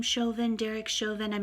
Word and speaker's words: Chauvin: construed as Derek Chauvin, I believe he pronounces his name Chauvin, Derek Chauvin, I'm not